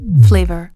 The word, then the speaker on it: FLVR: Il s'agit des bactéries appelées Faecalibacterium, Lachnospira, Veillonella et Rothia, dont les noms difficiles à prononcer ont été abrégés comme suit: FLVR, prononcé Flavor.